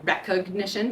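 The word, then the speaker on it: Rekognition: it's it's facial recognition systems called recognition but spelled with a k um after um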